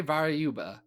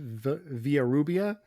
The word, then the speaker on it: Villarrubia: You got Lee Ferguson doing pencils, yes, and Norm Ragman doing inks with Jose Varayuba on covers. I mispronounced Jose's name. Jose's last name is pronounced Villarrubia, and I know that because he was actually a professor at my college.